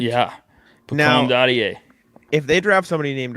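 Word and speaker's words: Dadiet: Now, Daddier.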